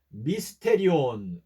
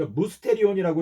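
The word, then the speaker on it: μυστήριον: 미스테리라고 말하지 않습니까 그래서 헬라어로 미스테리온 그 무스테리안이라고 읽는데 그 무스테리안이라고 하는 그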